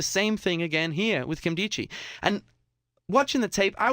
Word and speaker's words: Nkemdiche: Nkemdiche. That's how you pronounce the name, apparently.